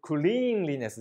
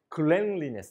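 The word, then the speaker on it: cleanliness: 表すんですね発音ちょっと注意してください空クリーンリネスじゃなくてクレンリネスと言います清潔さこういう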